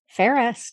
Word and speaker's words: Fairest: Spell it. It's FAIREST. Ferris.